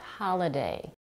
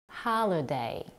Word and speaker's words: holiday: develop another example is the word holiday here we have the primary stress on the first syllable ha the second syllable L is UN stressed and the last syllable day has a secondary stress holiday if your native